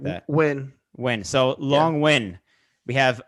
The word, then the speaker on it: Nguyen: Win.